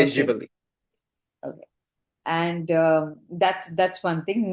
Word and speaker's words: Živeli: question to you is one is how do you say cheers in Serbian language? So it's called Živeli. Okay, Živali, yeah.